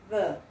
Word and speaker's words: the: artigo, vai ser o the. Quando você pronunciar, aqui esse TH ele tem um som vozeado. É quando você coloca a língua entre os dentes, mas só que a língua ela tem que vibrar.